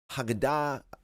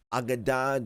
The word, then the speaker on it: Aggada: of Matthew is a Haggadah, Aggada, different ways of pronouncing this word in the Hebrew, that it's talking about